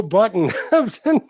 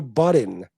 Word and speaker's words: Budden: Oh, Joe Button. No, it's Joe Budden. Budden.